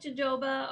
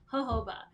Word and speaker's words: jojoba: how you pronounce it it looks like jojoba or jehovah but it's jojoba anyways now that we